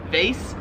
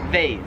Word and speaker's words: vase: in American English as vase whereas they're here in Australia they pronounce it vase so the way we say it like it rhymes with like face like your face face whereas here it